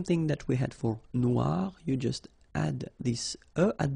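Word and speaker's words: noire: it's quite funny because you will have to add this uh at the end of noir for the feminine form but then you don't pronounce it okay so phonetically it is exactly the same noir noir okay g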